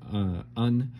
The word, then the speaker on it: Un: Enochian letter A, which is pronounced Un, then Enochian letter G,